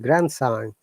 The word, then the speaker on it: grandson: So any word that has got grand and another word, we do not pronounce letter D. So grandmother, grandfather, grandchild, grandson.